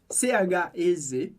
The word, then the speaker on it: chez: E chez, C-H-E-Z, a gente vai falar chez, porque o EZ do final sempre soa como E, significa outras coisas em diferentes contextos, mas aqui ele significa casa.